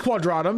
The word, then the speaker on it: Quadratum: They're asking for No, they pronounce it as Quadratum. Yeah, they pronounce it as Quadratum. Yeah, in the game, yeah.